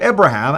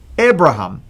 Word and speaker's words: Abraham: without the yeah but it sound like the Hebrew way of saying it before his name will change and it is Abraham like this and the